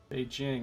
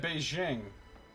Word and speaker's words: Beijing: really gets extra tricky be Jing is correct why does everybody say at Beijing inform rer he can